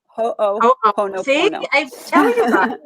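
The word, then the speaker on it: Hoʻoponopono: Ho'oponopono. Ho'oponopono. Ho'oponopono. Ho'oponopono.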